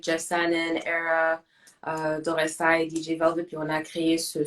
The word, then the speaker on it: DJ Velvet: On dit DJ Velvet, hein, c'est ça? Je oui, prononce bien?